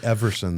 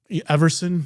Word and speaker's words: Everson: You have to say Everson, though. Everson. Yeah. Everson. Because it mispronounces the last name on Spotify and Pandora and all